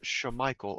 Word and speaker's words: Shamichael: if you don't want people calling your kid chemical, don't spell his name like chemical. The name was supposed to be pronounced Shamichael, apparently.